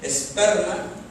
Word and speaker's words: esperma: Strong, es el griego 4690, esperma, con acento en la E, esperma.